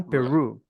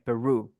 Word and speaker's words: Peru: de caipira R então peru é simplesmente mudar a pronúncia do R peru exatamente nunca se pronuncia